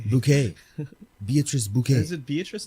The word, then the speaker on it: Bucket: what's her name beatrice bucket but no it's pronounced bouquet bouquet beatrice bouquet is it